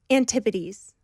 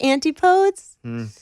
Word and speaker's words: antipodes: of your last record antipodes see you're smart most people try to say and they're like antipodes I wasn't gonna try but I knew no one would say it right and I knew no